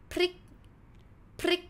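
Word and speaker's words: พริก: a cluster consonant so this one we pronounce prik prik you see it's pronounced together like prik means chili And for the cluster,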